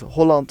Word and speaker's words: Holland: Holland North Holland and Holland is pronounced with again a more rounded oh that's slightly down to